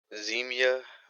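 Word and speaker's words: Zmiya: gave you the phonetic so that you could pronounce it. The actual proper spelling would be Z-M-I-Y-A. Z-M-I-Y-A. Yep. Zemia Bim.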